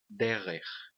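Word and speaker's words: דֶּרֶךְ: E o acento aqui na primeira sílaba. A próxima palavra, a palavra derer.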